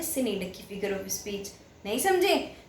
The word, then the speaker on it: synecdoche: यस, हम इसको pronounce करते हैं सिनीडकी करके।